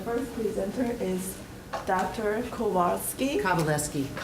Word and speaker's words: Kowalski: Kowalski, that's okay. That W is pronounced as a V.